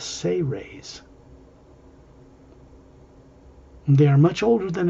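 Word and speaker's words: Seres: a race called the say raise spelled s-e-r-e-s but pronounced as if it was spelled s-a-y hyphen r-a-y-s say rays they are much older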